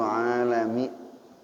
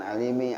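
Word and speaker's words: العالم: Waddalilul aqliyu alaika wujudul alami. Alami itu bacanya itu bukan alimi. Alimi mualim jatuhnya. Kalau alami alam coba alami alimi beda.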